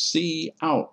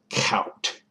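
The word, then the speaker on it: cout: a c plus program c out is pronounced as c out not count the first parameter in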